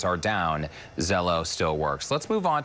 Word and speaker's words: Zello: THIS ONE IS CALLED ZELLO. YES, RHYMES WITH HELLO, EASY TO REMEMBER.